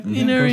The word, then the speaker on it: Ynnari: Ynnari. Did I pronounce that right? Yeah. Ynnari.